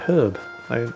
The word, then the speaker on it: herb: the word herb because he pronounced it the American way without the H at the beginning.